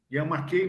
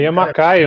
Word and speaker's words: Yamakai: O que tem que falar do Yamakei, não falava Yamakei, não sei se o nome dele é Yamakei. É Yamakai o nome, a pronúncia certa. Santa internet, né? A gente acaba aprendendo até isso, né? Yamakai, o jeito certo de falar.